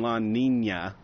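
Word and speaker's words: La Niña: Well, speaking of El Nino and La Nina is how it's pronounced, Brett.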